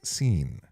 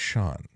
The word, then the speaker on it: Sean: How many times is your name mispronounced as Seen, not as Sean?